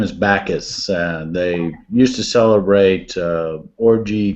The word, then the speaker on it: Bacchus: name Tim bockius patches um his name is Bacchus they used to celebrate orgy kind of things